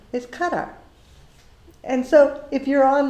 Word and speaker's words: Qatar: say that q a t a r is cut up and so if you're on live today i